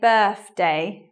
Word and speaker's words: birthday: like in this word I want to say birthday with an f f but um it